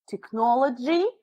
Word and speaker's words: technology: already found you an example so you say technology technology take yes tip Nico because the Greeks